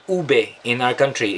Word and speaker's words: ube: It's called ube in our country. It's ube, but it's pronounced as ube.